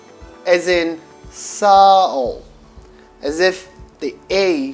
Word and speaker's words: Sağ ol: The G in the middle is silent G and makes the vowel comes before it a bit longer, as in sowl, as if the A sound is longer.